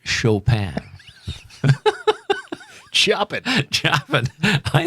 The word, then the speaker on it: Chopin: but i um identified choppin as the composer of this piece and followed by got a nice beethoven a friendly album a friendly call from elizabeth that's pronounced chopin chop it chop it